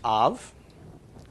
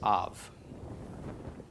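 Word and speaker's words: אב: comments under the olive all right this is pronounced off it means father okay the pronunciation comes from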